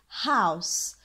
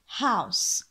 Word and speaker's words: house: في عندي اي silent letter عفوا تكتب ولا تلفظ فنقول house we say house house منزل house house منلاحظ كيف الاو عم